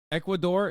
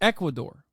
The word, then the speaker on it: Ecuador: situation here in equator is Equador am I saying see I'm saying it wrong I'm not even saying it right it's Ecuador I Amo okay it's